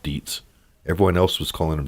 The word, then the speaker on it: Dietz: Park Dietz, who I've been pronouncing Detz, but been corrected that he calls himself Dietz.